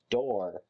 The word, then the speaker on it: Dorr: But anyways, and there's a character in it named Door, but it's spelled like Dorr.